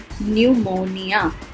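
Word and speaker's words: pneumonia: निमोनिया में P silent है. न्यूमोनिया मतलब फेफड़ों की सूजन.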